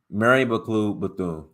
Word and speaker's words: Mary McLeod Bethune: hold on a second let me let me pronounce her name correct I don't want to butcher her name Mary McLeod Bethune Mary mcclue Bethune and W the boy is actually supported Margaret